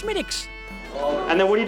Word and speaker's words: Smithwick's: Yes, it looks like Smithwick's, but it's actually pronounced Schmidtick's.